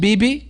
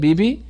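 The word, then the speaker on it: bebe: in every Mall almost BB you know it be e be that's how they pronounce it BB the clothes store this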